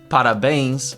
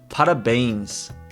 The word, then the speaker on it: parabéns: This melody I'm talking about is sort of like a descending melody. It's kind of like n, okay? Like n. Parabéns, which means congratulations, is parabéns. Parabéns.